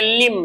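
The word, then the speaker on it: limb: Mister Raven was pursued upon a लिंब एल आई एम बी को पढ़ेंगे लिम। लिम B silent होता है।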